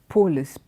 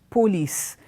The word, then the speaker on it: police: redness D Wednesday okay and not a commonly mispronounced word is a word police it's not polis police this police okay the police were on duty